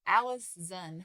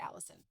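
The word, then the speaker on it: Alizon: granddaughter named alison device it's alice zen with a z that's interesting i'm going to say it wrong i'm going to say it allison i listen i can't help myself on march 21st 1621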